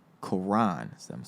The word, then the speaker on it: Koran: How you pronounce my name is Koran. Koran.